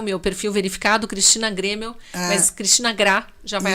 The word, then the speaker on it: Graeml: Ele escreve Graemil. Mas ele pronuncia Grêmio. Como fosse Grêmio de colégio, de Grêmio de time.